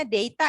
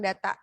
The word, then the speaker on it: data: ya Oke jadi ini bacanya deita Ya kalau orang British sih deita bukan data ya kalau Amerika ia data ah nah ini yang tadi